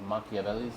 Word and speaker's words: Machiavellis: My name is and I'm the owner of Makavelli's Ala Pastaria.